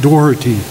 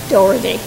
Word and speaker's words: Dorothy: should be correctly pronounced it's correctly pronounced Dorothy Dorothy okay but you were